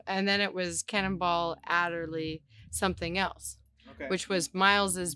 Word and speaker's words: Adderley: Am I saying his Adderley? Adderley. Yeah, you're saying it right.